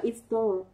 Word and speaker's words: install: từ đọc là install thì cô sẽ có in là i mà store là o dài. Mình lại có cái quy tắc như sau. Mình có quy tắc là trọng âm ưu tiên rơi vào nguyên âm dài. Vậy nó sẽ rơi vào âm tiết thứ hai của từ.